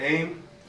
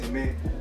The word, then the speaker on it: Aimé: I go by the name of AIM, A-I-M-E, not aim like I'm shooting at nobody because I've never shot at anybody. It's actually from my last name, which is pronounced Aimé. I'm Haitian, so yeah, that's where that derivation comes from.